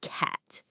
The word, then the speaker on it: cat: This is the ash sound. A. To make this sound, your mouth needs to be very wide like you're about to smile. And your tongue should be low and flat in the front of your mouth.